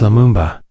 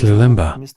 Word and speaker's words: Lumumba: Minister of the Democratic Republic of Congo, Patrice Lumumba, as Lulimba, through L, instead of M.